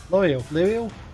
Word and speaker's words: Lieriel: I think what's important to keep in mind is the first syllable is lie, which, I don't know, just makes it easier for me because I'm like, that's a real word that I associate with this person.